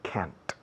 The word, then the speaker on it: can't: Es que no oigo la diferencia entre can y can't. Pues yo tampoco. ¿Ok? In fact, in English, we don't pronounce can't. Realmente no pronunciamos sonoramente, no se oye la T.